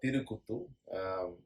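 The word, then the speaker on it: Therukoothu: because I may have messed up with the pronunciation, so I want it to be the right. That's okay. So the term Tirukuttu originates from Tamil language.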